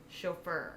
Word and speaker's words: chauffeur: How did you pronounce it? Chauffeur.